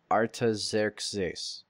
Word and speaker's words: Artaxerxes: Wait, okay, here's the Greek. Artaxerxes. That's how the Greeks pronounced it.